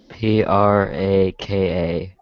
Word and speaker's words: Chupraka: CHUPRAKA. And it's how do you say it? It's Chupraka. Chupraka. Sounds like Chupacabra for some reason.